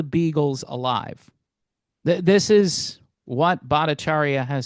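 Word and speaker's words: Bhattacharya: Yeah, Badacharia. That's how you say his name.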